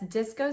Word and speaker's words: Dysco: BYREDO Dysco palette, and that's disco spelled with a Y instead of an I, and I think it's gorgeous.